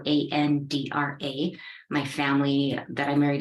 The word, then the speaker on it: Andra: everyone my name is my last name is spelled a-n-d-r-a my family that I married into I'll pronounce